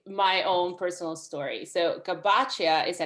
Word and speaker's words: Gabaccia: right like it is it can be pronounced the italian way and it could be i gabacha or gabachia i i respond to